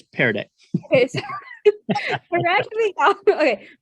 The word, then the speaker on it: Pear Deck: So there are many features on Peer Deck. Is that how you say it? Peer Deck or Peer Deck? It's Pear Deck.